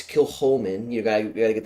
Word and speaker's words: Kilchoman: for example like like you could say kilchoman or whatever who cares whatever it's kill Holman you gotta you gotta